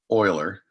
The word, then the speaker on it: Euler: it's euler um it's it looks like it's euler but it's not so um leonard oiler euler's number the natural